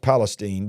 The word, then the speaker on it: East Palestine: East Palestine, and it's pronounced Palestine, by the way, East Palestine, Ohio, rolled out,